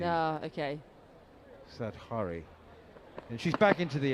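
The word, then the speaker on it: Satghare: I've been saying Satgari, but it's that might be. What's a soft G?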